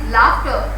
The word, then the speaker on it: laughter: The third word is laughter, F of fur, sound is used for laughter.